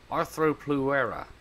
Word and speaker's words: Arthropleura: light green and oh there's my saddle primitive Arro plera I I need to learn how to say this arthro plera there we go give you that saddle buddy